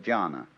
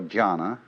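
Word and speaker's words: jhāna: which in turn is the Chinese way of pronouncing the Sanskrit word jhana.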